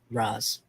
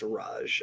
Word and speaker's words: Raj: Raz. Okay. No, it is pronounced Raj. I just Raj. Okay. it's the let's see. It's the same Z that you see in Proto-Indo-European, like Sanskrit.